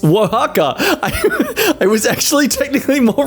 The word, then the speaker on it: Oaxaca: Osaka, for anyone who actually wants to know how to pronounce these things. No, wait, scratch that. It's Oaxaca.